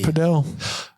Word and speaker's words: padel: I'm pretty sure it's pronounced padel. It was invented in Mexico.